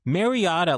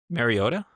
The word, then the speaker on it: Mariota: This poor guy, Mariota, like I haven't watched a full game of his now.